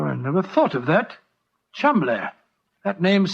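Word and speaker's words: Cholmondeley: And being an American, he had no reason to know that the name Chumley is in no way pronounced the way it is spelt. Oh, Joe, I never thought of that. Chumley.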